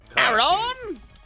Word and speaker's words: Aron: Yeah, no, it's a soft A. It's one of those pronunciation things. It's bath, grass.